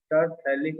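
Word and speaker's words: terephthalic: TH यहाँ भी वही साइलेंट है, टरफेलिक एसिड।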